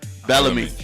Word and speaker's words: Belleme: I say Belleme. Belleme. Yeah. Just like that, Belleme. Belleme. But like Bill Bellamy.